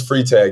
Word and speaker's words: Freitag: Is it Freitag or Freitag? How you pronounce it? It's Freitag. You had it right.